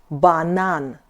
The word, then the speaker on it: банан: B is like B in Bond. James Bond. Example in Russian, banan. Banan.